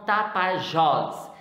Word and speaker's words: Tapajós: Então, Tapajós. Então, Tapajós, nós percebemos aí que é uma oxítona, está pronunciada com a tonicidade mais forte.